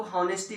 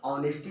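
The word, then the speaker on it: honesty: क्या पढ़ते हैं, हॉनेस्टी बोलते हैं, ऑनेस्टी को हॉनेस्टी बोलते हैं।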